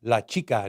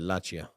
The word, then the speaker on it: La Chica: Also, La Chica wanted to tell you that her name is pronounced La Chica, not whatever the hell you said, which I wasn't paying attention, so I'm sure you butchered it in a really, really bad way.